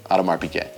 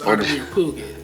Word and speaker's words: Audemars Piguet: Oh, that's how you say it? Yeah, Audemars Piguet. Oh, I thought it was Adamir Puget.